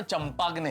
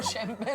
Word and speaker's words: champagne: जो बोतल फोड़ते हैं ना, उसकी स्पेलिंग CHAMPAGNE है। इसका मतलब ये नहीं कि उसका उच्चारण चंपाग्ने है। वो शैंपेन होती है जेठालाल, शैंपेन।